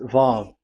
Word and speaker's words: Vav: So it's V as in Vogue. So it's really V. How to read Vogue? So the word, the shape Vav is really pronounced V, like Vogue. That is it, pronunciation. So here in this side, it's pronunciation. This is pronunciation. So according to the old Hebrew word today, those who, the owner of the word, I mean, so it's a V. So don't change it into W.